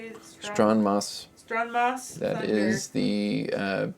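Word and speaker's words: Stronmaus: Stronmos.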